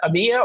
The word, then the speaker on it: EMEA: executive editor for EMA do you pronounce that Amyia or you know just Amy yeah either one is good and he's also representing